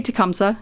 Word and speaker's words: Tecumseh: Park do you have any memories involving a t comy or tumsa how do you pronounce it Tumi or tumsa okay so it's supposed to be tumsa okay but anybody who lives here pronounces it wrong and that's right love that